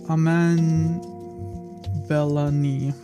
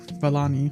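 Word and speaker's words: Iman Vellani: it up here uh I think it's Aman velani velani I think that's how you pronounce their name um but yeah she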